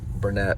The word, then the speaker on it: Barnett: Uh, Bern Bernett, who's that's how you say her name.